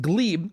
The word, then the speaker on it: Gleb: His name is Gleb, spelled Gleb, but pronounced Gleb, and he is a Ukrainian person who came